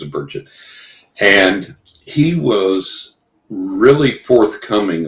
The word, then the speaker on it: Burchett: One year they got Congressman Tim Burchett, however you say his name, I think it's Burchett, and he was really forthcoming on that.